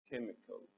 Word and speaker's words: chemicals: chemicals ناخد بالي من ان السي اتش المرة دي هتنطق، فاحنا هنقولها chemicals.